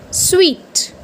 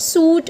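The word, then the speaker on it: suite: And what's the pronunciation? It's sweet, right? It's sweet, not suit or not sweet, it's sweet.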